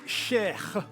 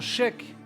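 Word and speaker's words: Cheikh: de foot, on entend chèque. Parce que c'est mal prononcé en fait. Non, oui, c'est mal prononcé. Normalement, le KH de la fin, ça se prononce comme la jota en espagnol.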